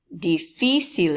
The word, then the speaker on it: difícil: my pronunciation of this so just a recap it was difficile difficile ace difficile difficile ace so the accent is on the second eye and here we won't